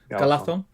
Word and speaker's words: Galadhon: Is it DH? DH. DH is then. Galathon.